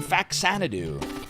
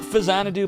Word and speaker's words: Faxanadu: trying to derust in Faxanadu. Not Faxanadu, but Faxanadu, because that's how I've always said it. Even though I know that's not the correct pronunciation.